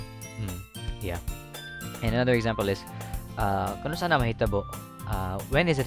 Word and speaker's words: Kanus-a: Yeah, the dash there indicates like you have to pronounce them like there's a pause between, like Kanus-a, not Kanus-a, because that's not a word. I think I have no idea. So yeah, it's Kanus-a. There's going to be a pause in between.